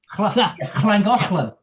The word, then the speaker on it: Llangollen: They've got the double L, which is pronounced no, it's cla. Yeah. Llangollen.